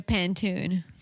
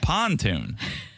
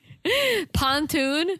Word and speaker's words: pontoon: we should get a Panton if you learn how to pronounce it that's what I said say it again pantoon it's like a frying pan of a boat you say it pontoon pontoon yeah sounds like something